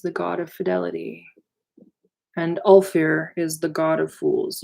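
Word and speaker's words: Ulfar: god of fidelity and all fair is the god of fools u LF our accent on the you alright the frolicking bear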